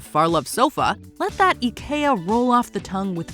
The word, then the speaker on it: IKEA: debunk the pronunciation puzzle Ikea is not an Ikea or Ikea Affair drum roll please it's a simple and Charming Ika Silence the Critics Ika the wonderful everyday imagine